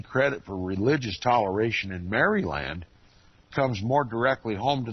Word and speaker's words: Maryland: my my pronunciation of Maryland most people call it Maryland I call it Maryland it was the Roman Catholic Colony it was named after the Virgin Mary and although it espoused